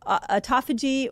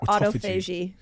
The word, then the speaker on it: autophagy: way of saying it people say either call it um autophagy or autoag people say it different you tell I said it wrong I kind of landed on autophagy I feel like autophagy is the best way to say it autophagy fasting what's that